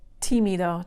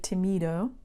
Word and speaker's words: tímido: Tímido. Tímido has an accent mark on this I. That makes you say tímido instead of timido.